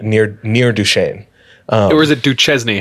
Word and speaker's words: Duchesne: Or is it Duchesne?